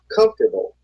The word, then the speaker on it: comfortable: The vowel immediately after a stressed syllable is sometimes not pronounced. Average. Different. Separate. Comfortable.